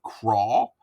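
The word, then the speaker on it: Qrawl: Um, uh, we started doing QR code stuff for a thing we call we do called crawl, which is spelled Q R A WL.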